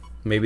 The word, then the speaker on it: Mabe: See, it's called Maybe Village or maybe Mabe Village. It's spelled Mabe, but I always pronounce it as Maybe, because like it's kind of a hint towards the whole like thing not being a real world.